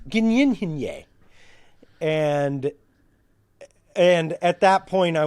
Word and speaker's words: Gyllenhaal: Gyllenhaal. He says, "It's Dutch." And so the correct pronunciation is Gynyenhinye.